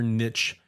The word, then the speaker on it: niche: Try to do your best to kind of punch through it and find your niche or niche. There's another one you could pronounce two different ways.